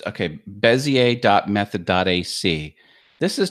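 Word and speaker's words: Bézier: method AC and remember this looks like Bezier Bezier Ezzy a bezzie a is the correct pronunciation of that term as EA teaches you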